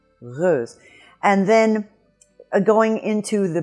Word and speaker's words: heureuse: And right at that point is where the back of the tongue intersects that point, and you make a little friction sound, and you have so you have heureuse, heureuse, heureuse.